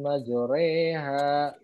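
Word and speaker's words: مجراها: ada di hotpotato ya dibacanya bismilahi majreha begitu Ya jadi bukan maju Wow tadi bajrey Himalaya roh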